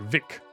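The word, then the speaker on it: Vicks: And it's supposed to be pronounced like a W, like Vic, and not like an F, which is thick.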